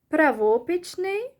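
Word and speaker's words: правописний: Правопічний means spelling, or правопічний. So the stress is on the O, either the O or on the E letters.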